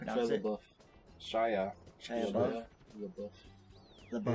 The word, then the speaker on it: LaBeouf: LaBeouf. It's LaBeef. Shy is like God, and LaBeouf is LaBeef. It's beef. LaBeouf is beef.